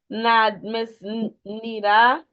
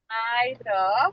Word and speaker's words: Nida: Miss Nita, I think that's the name. You can also message me for any inquisitions. Okay. Bye. It's pronounced Nida. My miss. Nida. Yes. Sorry, I thought it was Nita.